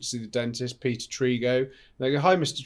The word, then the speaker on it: Trego: Is it Trego or Trego? Trego. Yeah. I've always pronounced it Trego, so I'll get it right now.